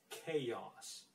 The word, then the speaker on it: chaos: right let's get to the next one it's pronounced chaos you have to say chaos instead of chaos